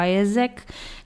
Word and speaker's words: AIESEC: Mas se calhar hoje eu vou-me concentrar um bocadinho mais na minha experiência, e a minha experiência foi com a AESEC, que se escreve AIESEC, mas eu depois vou deixar o link na descrição do episódio.